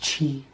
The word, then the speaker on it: chi: that key key kai how do you pronounce that oh it's just chi oops nuevra has been